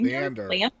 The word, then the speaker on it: Leander: Leander Le Le Leander.